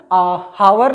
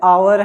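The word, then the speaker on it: hour: यच लिखा है लेकिन उसका उच्चारण क्या सही है, आ। ठीक है, हावर नहीं बल्कि क्या है, आवर है।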